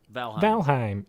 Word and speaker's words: Valheim: I mean, anytime EI is in a word that's not from the English language, it's pronounced I'm. Heim. So Valheim.